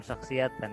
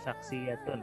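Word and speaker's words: شخصيةٌ: Ana, saya, syakhsiyatun, ini maksudnya bukan syakhsiyatan ya, tapi syakhsiyatun, harusnya dibacanya.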